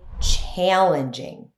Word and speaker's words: challenging: Instead of saying difficult, you can also say challenging. It's challenging work. It's challenging. Notice the ending sound j in challenging.